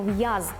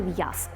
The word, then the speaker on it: в'яз: наприкінці слова або всередині Якщо у нас літера З то ми маємо вимовити цю з а не перетворити її на с б маємо вимовити б а не п і таке інше до прикладу в'яз ми говоримо в'яз а не в'яз І звісно ж ви